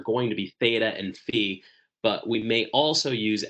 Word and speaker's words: phi: This is the Greek letter F spelled phi, but pronounced fe. Sometimes this letter is pronounced fi uh in the Greek language, but I'm not